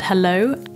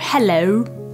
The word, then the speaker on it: hello: And the really key thing that distinguishes whether they've nailed it or not is this O sound at the end. So some people almost overemphasize it and they go, hello, but that's almost closing it down too fast. It needs to be a very gradual O, quite relaxed O.